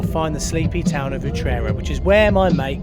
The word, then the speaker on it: Utrera: At the moment, we're in Utrera. Is that how you say it? Utrera.